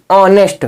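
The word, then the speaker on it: honest: ओ लिखा हो तो ह का उच्चारण नहीं होगा ह साइलेंट रहेगा जैसे ह ओ एन ए एस टी ऑनेस्ट क्या पढ़ेंगे दोस्तों ऑनेस्ट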